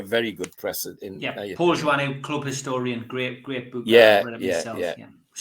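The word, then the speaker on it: Joannou: Paul Journeau. Is that how you pronounce it, Steve?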